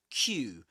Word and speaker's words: queue: Okay, so going back to Q, the word Q, which is pronounced just like the letter Q. Okay, Q.